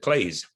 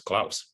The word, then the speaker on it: Claes: And because we speak French, we pronounce it Claes, which made sense to me, but really gave me problems in art school because everyone knew it as Claes.